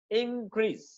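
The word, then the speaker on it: increase: इंक्रीज, इंक्रीज, इंक्रीज, इंक्रीज, इंक्रीज। ठीक है। तो वर्ब के तौर पे सेकंड सिलेबल, और जब नाउन के तौर पे प्रोनाउंस करेंगे तो फर्स्ट सिलेबल पे स्ट्रेस करेंगे।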